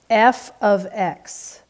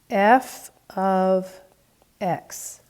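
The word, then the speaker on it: f(x): and then you'll see parentheses x and it's pronounced f of x f of x okay but that is put in place of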